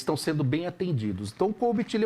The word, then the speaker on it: COBIT: da área de software mas também temos o cobit Tá certo a pronúncia cobit sim tá certo a pronúncia e